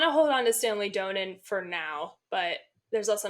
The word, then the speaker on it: Donen: It says Donen.